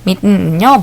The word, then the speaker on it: mitten: 자, 그 다음에 mitten은요, T 발음을 먹듯이 해서 mitten이라고 표현하기도 하는데요. mitten은요, 벙어리 장갑입니다.